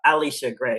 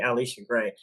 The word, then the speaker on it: Alisha Gray: Wilson, Pau Pau, Tiffany Mitchell, and Alisha Gray Alisha Gray, excuse me. Pronounce that correctly. Alisha Gray.